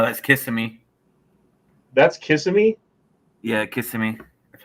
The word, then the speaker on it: Kissimmee: Yeah, Kissimmee.